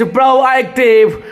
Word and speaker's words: proactive: And final word of this show, that is proactive. Proactive, that is PROACTIV। AU को O पढ़ते हैं, A और E जब साथ में आता है that is A, उसके ऊपर आपको जोड़ देना होगा।